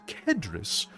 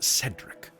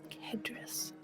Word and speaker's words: Kedrris: It's pronounced Kedrris, but everyone seems to think that it's Cedric. Kedrris.